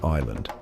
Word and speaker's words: island: Wait, what's that S doing just chilling there between the I and the L?